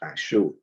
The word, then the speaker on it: Ashur: So this is the concordance, Ashur, pronounced Ashur.